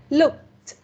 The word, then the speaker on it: looked: And the next part is about ed sound as T. Okay. Looked. Look. Looked. Looked. Looked. Mình không cần phát âm cái mình không cần phát âm cái từ K ở đây ha. Mình chỉ cần phát âm T thôi.